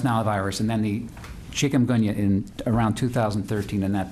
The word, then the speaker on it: chikungunya: And then it was back in the 1990s, you're going to have to help me with this, chikungunya. Chikungunya. Thank you. I asked my wife how to pronounce it. Chicken with a gun. Thanks a lot. Chicken with a gun. Chikungunya.